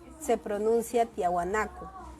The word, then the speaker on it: Tiahuanaco: La cultura tiahuanaco se pronuncia tiahuanaco.